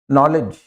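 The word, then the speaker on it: knowledge: तो जब कभी भी के के बाद एन आता है और उस शब्द का आपको उच्चारण करना हो तो के साइलेंट रहेगा, उसका उच्चारण एन से करेंगे। नाउ, नाइफ, नॉलेज, नीड आटा गूंदने को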